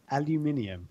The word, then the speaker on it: aluminium: How do you say aluminum, Graham? Aluminium.